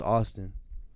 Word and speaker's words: Avstn: took the I out so it's just avstn really it's pronounced Austin uh but if you